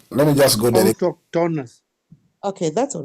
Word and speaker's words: autochthonous: Let me first of all pronounce it. Autochthonous.